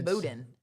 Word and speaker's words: boudin: school, eat emu burgers with our alligator and boudin. Spell boudin. B. Mm-hmm. O. Mm-hmm. U. Yes. D-A-N. I-N. I-N. Okay. Boudin. Yeah. That'd be boudin. Yeah, but it's pronounced boudin, and it is so good.